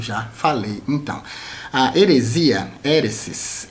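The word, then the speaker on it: αἵρεσις: heresia do grego heresis a pronúncia no Grego é heresis que significa literalmente escolha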